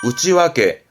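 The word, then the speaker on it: 内訳: 뭐 어떠 사용 내역이라는가 쓰게 되잖아요 내 역인데 발음은 우찌 와게 우찌 와게요 역자를 와로 읽게 되면 이유를 말하게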